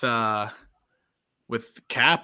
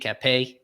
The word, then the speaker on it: Cappe: Pablo Lopez, Jesus Aguilar, Yiddi Cappe, who he likes to call Cap for some reason. Pronounce the E at the end. Cappe.